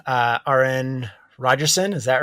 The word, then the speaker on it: Arran: with guest aaron rodgerson all right uh rn rogerson is that right that's right i'm like more concerned about pronouncing the last name in the first name